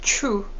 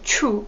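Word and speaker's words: ཆུ: is water which is true so true can also mean river and true the same pronunciation can also mean pee but in this context we're going to talk about drinking water so true is the drinking water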